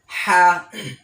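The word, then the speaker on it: ح: হা। হা উচ্চারণ করার সময় হলকের মধ্যখান, অর্থাৎ গলার মধ্যখান থেকে হা উচ্চারণ হবে।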